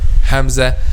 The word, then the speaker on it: Hamza: The answer is the back of the tongue will not be raised when we pronounce letter Hamza, which means it will be a light letter.